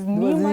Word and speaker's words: Nimotala: It's Nimotala. Yoruba pronunciation. Yes, Yoruba way of saying it.